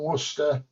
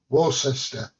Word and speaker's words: Worcester: Enjoy Christmas from Worcester, UK. Or as the Americans say, Worcester.